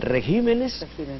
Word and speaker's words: regímenes: que confirman la regla toda palabra en el plural y en el español conserva el acento prosódico el acústico en la sílaba donde aparecían el singular el caso gobierno gobiernos pájaro pájaros excepto dos palabras régimen que al volverse pulgar se convierte en regímenes y carácter que al